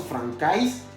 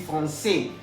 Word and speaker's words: français: Estamos viendo français, está escrito con la A y S al final. Ya habíamos visto hace unos minutos atrás que la AI se pronuncia E. Entonces no diremos francais, vamos a decir français. A saber lo siguiente también, que la S final no se puede pronunciar.